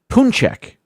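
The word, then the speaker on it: pączek: The singular word is punchek. It says here the pronunciation is punchki, although in English it's often pronounced as paunchki or punchki.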